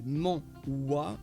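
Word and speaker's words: manhwa: étoiles de masse à quito sodas les molloy prononcé mans ouah c'est le nom donné à la bande dessinée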